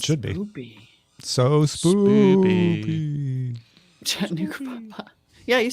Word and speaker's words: Chattanooga: Chattanooga pa Yeah, you said it right.